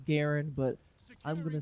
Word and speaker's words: Garand: gameplay of the gun of choice the m1 grand or garand as it's actually technically pronounced it's pronounced garen but i'm going to say grand because it